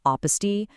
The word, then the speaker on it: apostille: It's a kind of strange word, right? Pronounced apostille. It actually comes from a French word meaning a marginal or bottom note.